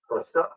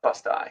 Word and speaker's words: Busti: It's with a long I. How do you pronounce it? Busta. Busti, yeah.